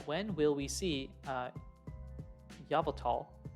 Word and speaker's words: Yveltal: will we see uh yavatal is there a proper pronunciation for this I've heard so many different Yveltal I think it's Yveltal Yveltal uh when will you